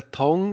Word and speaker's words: tongue: say if it is a tongue?